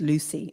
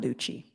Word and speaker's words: Luci: The pronunciation is Lucy. It's not Lucci. It's Lucci, okay? It's Lucy.